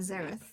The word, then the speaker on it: Zareth: And also, if you didn't know how to pronounce those, it's Xenos and Zareth. I don't care if you pronounce it differently, but just that's how I say it.